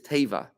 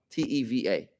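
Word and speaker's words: תיבה: The ark in Hebrew is Teva, T-E-V-A, T-E-I-V-A. Not Teva, which is nature and drowning.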